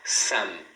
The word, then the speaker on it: some: falam m no final você deve fechar a boca. Então você fala some, som.